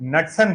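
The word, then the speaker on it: Knudsen: Number दिया और उसे नटसन नंबर कहा गया। के साइलेंट बोल लीजिए, यहाँ पर नूटसन भी बोल सकते हैं, नटसन भी बोल सकते हैं, नूटसन बोल दीजिए चलेगा।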